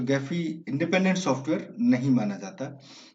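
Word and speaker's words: Gephi: ये गैफी जो है, कुछ लोग इसे, आप अगर वीडियोस देखेंगे इंटरनेट पे तो कुछ लोग इसे जैफी भी कहते हैं, मतलब most of the time it is pronounced गैफी।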